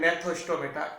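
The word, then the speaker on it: Gnathostomata: यहाँ जी साइलेंट रहता है इसलिए अपन बोलते हैं नेथोस्टोमेटा।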